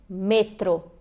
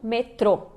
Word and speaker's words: metro: Então a gente diz metro e não metrô, ok?